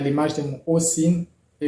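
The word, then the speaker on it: осень: Donc, dans le mot Osin, le I se prononce I, étant donné que le O est porteur de l'accent tonique.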